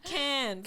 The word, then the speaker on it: Cairns: Cairns? Yeah. Cans. Cans, more like a can of beer with an S.